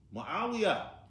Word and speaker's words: معاوية: Because it has a tat to end, we pronounce it with one dhamma. Usamatu. One dhamma. Not Usamatun. Muawiyah.